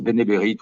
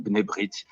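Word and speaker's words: B'nai B'rith: le benbit qu vas-y ça c'est écrit B apostrophe N a I tra B apostrophe r i th mais on prononce benéberite ou benébrit si on veutors mais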